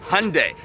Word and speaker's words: Hyundai: how to say it in Korean it is pronounced Hyundai and guess what I brought the most modern